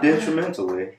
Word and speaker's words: detrimentally: Detrimentally. Okay, detrimentally. Oh, because I just wasn't hitting that T.